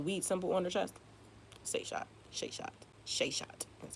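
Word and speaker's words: Seshat: Sheshat.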